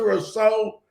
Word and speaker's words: Rousseau: is gregory rousseau and i believe you pronounce it rosso rosso i believe um smelled a little differently but he's six six 266